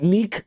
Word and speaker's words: Nique: It's got to be pronounced Oh, it's Dominique. Okay, Nick.